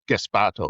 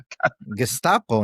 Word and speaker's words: Gestapo: It's caused by the completely irresponsible, hyperbolic language of democratic politicians who've called ICE Gespato and stuff. Gespato. How do you pronounce Gespato? Gestapo, no, the Oh, yeah, Nazis.